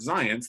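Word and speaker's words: Zajonc: people would hurt and Robert science that's how you pronounced za Jo and see science science said other people will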